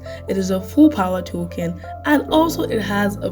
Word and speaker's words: Talken: Number 5, Token. This is spelled TALKEN.